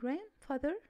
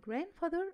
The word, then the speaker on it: grandfather: I visit my grandfather on Wednesday. I visit my grandfather on Wednesday.